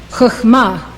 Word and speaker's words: Chokhmah: This is how they are pronounced. These 9 Sefirot emanate from Keter. Chokhmah, wisdom.